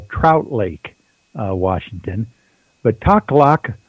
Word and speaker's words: Takhlakh: But Taklak Lake is spelled Takhlakh. Obviously, it's a First Nation Indian name for the area out there.